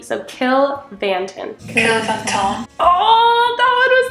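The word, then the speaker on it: Cill Mhantáin: and then okay so the MH last time made a v sound so let's do kill vanton my my English teacher brain is like no that's an MH but I'm going to go with what has happened in the past and go with a V so kill vanton killon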